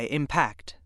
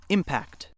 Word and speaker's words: impact: Now you try impact. Try it again. Let's recap. Word 6 has two pronunciations. When it's used as a noun, it's pronounced impact.